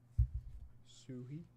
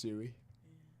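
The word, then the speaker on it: Suhey: Lamar Parish, Lee Roy Selman, Suhi, Suhei. I think it's Suhei or Suhi. Just sui. No h pronounced at all.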